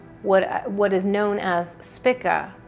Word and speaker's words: Spica: what is known as spika s-p-i-c-a i pronounce that if it's pronounced spika or i say spica potato potato anyway but i'm i'm just going to call it spica if you'd say it's